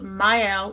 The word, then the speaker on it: Mielle: First, we have this Mielle. Yes, I did learn how to pronounce it. The Mielle Rice Water and Aloe Vera Deep Conditioner.